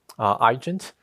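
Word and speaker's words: Eigent: And one of it is called the eAgent, Agent, the way we pronounce it.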